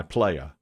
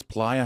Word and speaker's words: Playa: show called Crash My Player are you familiar with this show I believe it's Playa because it's in Playa Del Mar how can it